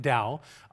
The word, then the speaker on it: Tao: Why, in English, it was spelled with a T instead of a D, I'll never understand. But it's called the Tao, and that's the path to ultimate reality.